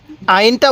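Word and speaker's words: ع: নাম হলো আইন আইন আইনটা উচ্চারণের সময় আমরা গলার মধ্যে হালকা চাপ দিলে আইনটা সহি উচ্চারণ হবে তাহলে কিভাবে পড়বো আইন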